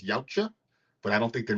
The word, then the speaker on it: Yautja: Predator, but they're actually, I think the pronunciation is Yautja, but I don't think they're necessarily called that in this film.